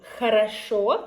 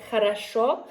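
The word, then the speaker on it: хорошо: Um for example, I told you "khorosho", which is well. Right? "khorosho" "khorosho" and also can be, for example, "khata".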